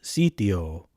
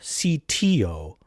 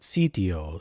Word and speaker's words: sitio: In our case, we will pronounce the first word as sitio, with a little bit softer T than we might otherwise think. Not sitio, but sitio. So it's a little bit more of a softer dental T, a little bit more Italianate.